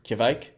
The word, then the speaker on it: kveik: creation doing the most you may have noticed my very intentional pronunciation of Quebec that's because a lot of folks don't know how to pronounce the name of this yeast and up until recently